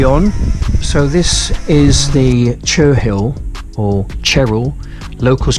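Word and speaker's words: Cherhill: second monument now uh which is chur hill i think it's pronounced cheryl uh white horse uh again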